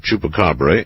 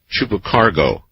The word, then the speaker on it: Chupacabra: Last night someone butchered the pronunciation of Chupacabra in an interesting way. I believe he called it chupacargo.